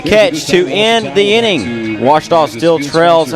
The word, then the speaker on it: Ouachita: OUACHITA. OUACHITA. Is it pronounced Ouachita? Searching for Ouachita Baptist University. Back in Texas, everybody pronounces it Wichita, but really it's Ouachita.